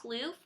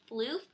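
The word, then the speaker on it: Phloof!: this next one is floof and this is a frost finish and I know I used to say plof but you all corrected me and said that it's actually pronounced floof so thank you for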